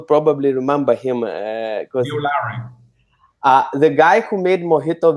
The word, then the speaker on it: Lowrey: And what that's where you will probably remember him because Neil Lowry.